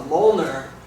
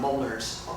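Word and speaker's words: Mjollnir: is uh called a Moler and uh it's spelled very weird it doesn't uh it's not phonetic it's m j o l l n i r and it's uh it's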